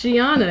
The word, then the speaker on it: Giaunna: um you were all you were there it's gianna you were close so close so close that